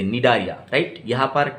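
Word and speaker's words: Cnidaria: C है, C का pronunciation silent रहेगा, आप प्रोनाउंस कहाँ से करोगे, N से, निडारिया, राइट।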